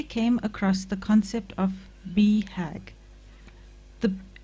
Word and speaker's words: BHAG: grace i recently came across the concept of be hagg the it's spelt b-h-a-g the acronym for big audacious hairy